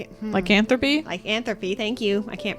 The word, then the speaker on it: lycanthropy: still be in have like in three likethropy like anthropy. Thank you. I can't pronounce words today.